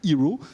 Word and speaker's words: Heraw: plus qu'une start-up, qui s'appelle Hero. Et vous allez nous la présenter. Ça s'écrit H-E-R-A-W.